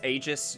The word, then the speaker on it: Aegis: It's pronounced Aegis, you say?